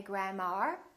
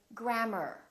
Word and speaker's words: grammar: in words like grammar don't say grandma say grammar or e AR for example